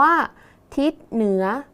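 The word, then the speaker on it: ทิศเหนือ: ทิศ เหนือ อ่าน ว่า ทิศ เหนือ นัก เรียน ดู คำ ว่า คิด นะ คะ นี่ ศ ศาลา เป็น ตัว สะกด แต่ ออก เสียง พยัญชนะ ท้าย เหมือน เด็ก ดัง นั้น คำ ว่า ทิศ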